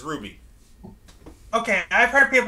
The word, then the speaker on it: RWBY: pronounces it as Ruby everyone pronounces it as Ruby okay I've heard people pronounce it as rwi so I did I